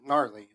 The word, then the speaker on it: gnarly: Because the G is silent.